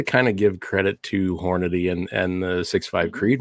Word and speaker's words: Hornady: want it in there that's southern internet everybody mispronounces this hornady some say hornaday some say hey if you're calling me southern